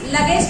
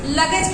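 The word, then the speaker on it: luggage: लगेज की spelling L U double जी ए जी ई। वैसे अब देखिए लगेज की एल यू डबल जी आप पढ़ रहे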